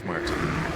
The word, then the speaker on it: Muerta: I don't think that's how you pronounce that. Muerta. 33. He'll get out. Dire's bottom tower is under attack. Wallachia. Oh, late. Yes, that's how you pronounce Muerta.